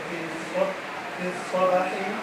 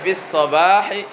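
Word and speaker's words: في الصباح: Wafi jumlati, dan di dalam kalimat kharaja sa'idun fi sabahi, Tuh, antum belum enak bacanya. Harusnya fis sabahi.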